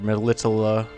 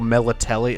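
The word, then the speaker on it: Melitele: Now we finally got what we begged Melitala, or the way they fucking pronounce it in the annoying-ass Netflix show, Melitelli. Oh, it's horrible.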